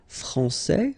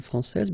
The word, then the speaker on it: français: Okay, so we've got a little bit the same situation here as we had previously with français and française, because we don't pronounce the final S in français, and it's exactly the same thing.